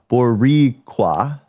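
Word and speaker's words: Boricua: Uh, oh, pronounced Boriqua. Boricqua. I can't. You got to roll. I can't roll my Rs.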